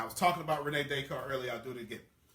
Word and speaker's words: Descartes: Now, I was talking about Rene Descartes earlier. I'll do it again. Rene Descartes, the father of rationalism, says, now, if you're Googling Rene Descartes, it looks like it's spelled Descartes, okay?